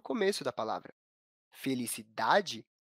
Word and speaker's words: felicidade: Felicidade apresenta a sílaba tônica na penúltima posição, contando do final para o começo da palavra.